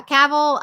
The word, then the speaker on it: Cavill: had three seasons so yeah you know Henry Cavill is that how you say his name yep Capital it's a cowboy yeah Cavill um he has been in The Witcher which